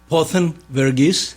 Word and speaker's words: Pothen Varughese: All right, well, let's meet the gentleman that you brought with you, and help me with the pronunciation again, sir. Pothen Varughese.